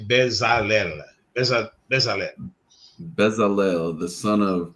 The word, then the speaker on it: Bezalel: I would say Bezalel.